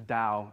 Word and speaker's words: Dao: this thing called dowsing now it's spelt with the T it's kind of there's two spellings of it but in in Chinese is Daud Daud Yao or Dowd yeah and so it's the Dao and so although it's